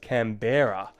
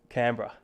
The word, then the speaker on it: Canberra: guys um all right i always thought it was com pronounced camberer uh not canberra well i guess aussies